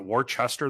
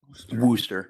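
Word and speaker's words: Worcester: Is it is it Warchester? There's no H there. or is that how does that pronounce that township? Worooster. Worooster.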